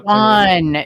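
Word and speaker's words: Siuan: So Swan. It's like Swan. Swan, but with like a little Swan. sh in there. Swan. Yeah, or just Swan, I guess.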